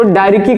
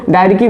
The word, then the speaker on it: diarchy: ध्यान से सुनेंगे, द्वैध शासन जिसको डायरिकी कहते हैं, ध्यान सुनेंगे, अंग्रेजी में क्या कहते हैं, डायरिकी कहते हैं। ये ध्यान से समझिए, CH जो है ये साइलेंट रहता है, इसको डायरिकी बोलते हैं, डायरकी, ठीक है, ये ध्यान में रखिएगा।